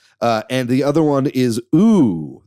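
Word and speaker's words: ooo: He did two games, one of which was Elekhead, and the other one is Ooh. That's 3 O's is how you pronounce that game.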